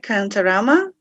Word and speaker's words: Kantarama: So, do I pronounce it right, Kantarama?